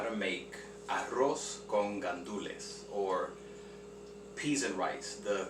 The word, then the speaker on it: gandules: You see there it's spelled in Spanish gandules verdes, green pigeon peas. But for some reason, the Dominican side of my family, they call it guandules. They put a U in between the G and the A.